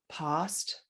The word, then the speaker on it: past: that is that there's a large group of words in the UK that get pronounced with an open ah sound, like bath, mm-hmm. and past and ask.